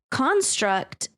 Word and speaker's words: construct: well here's something interesting construct can be a noun if you put stress on the first syllable but if you put stress on the second syllable it's a verb construct yep yep yep